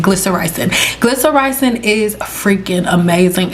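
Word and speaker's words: glycyrrhizin: PowerHouse within licorice root glycer rizen is a tongue twister but that's how you say it glyer Rising glyer ricing is freaking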